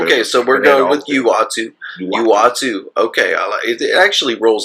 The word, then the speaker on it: Uatu: Do you say Uatu or Uatu? I used to say Uatu, but then when they did the What If series, they clearly said Uatu the Watcher on the show.